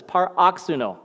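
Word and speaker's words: παροξύνω: So, paroxuno, that's what it says, paroxuno. That's the pronunciation of the Greek, paroxuno.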